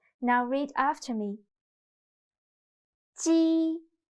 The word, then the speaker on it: 鸡: 鸡 sounds a little bit like the first sound of Jeep. But when pronouncing 鸡, your tongue should be more flat, and you need to stretch your mouth to both sides. 鸡. Listen to me carefully and feel the difference. Jeep. 鸡.